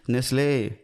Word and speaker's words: Nestlé: getting what they deserved for reinventing the way we say nestle it's about time you pray for your sins they put a little accent on the e nestle off